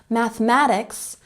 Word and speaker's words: mathematics: Mathematics has the emphasis on the second syllable.